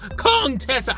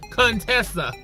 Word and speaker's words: Contessa: to pronounce her name she says : Tessa her name is Contessa but she uh dr. heavenly always goes comb Tessa I don't know she doesn't further dramatic effects out of it trying to be shady I don't know that's why she does it but dr. Kerr Tessa got her all the way together say I understand you got a speech impediment but it's pronounced Contessa the